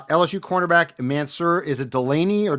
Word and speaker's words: Delane: his name, but you will know how to pronounce it, so that's good. Uh LSU quarterback Mansur. Is it Delaney or Delane?